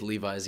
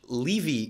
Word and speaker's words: Levy: had to deal with levi's yeah and i also had to deal with in in english leavey is a last name so my name is a last name and it's pronounced levi i don't know why